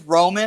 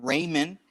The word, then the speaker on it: Roman: My name is Roman, Roman, not Raymond. Okay, if you're gonna say something, you need to say it right.